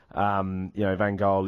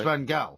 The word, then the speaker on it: Van Gaal: or something like that, they would each pronounce the name of each other as Dutch people do. However, in this country, it is Van Gaal.